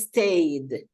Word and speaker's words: stayed: So in this case, it's stayed. Stayed. We don't pronounce the E.